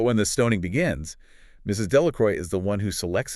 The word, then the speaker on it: Delacroix: Delacroix. Delacroix translates to of the cross, but the villagers vulgarize the pronunciation to Delacroy.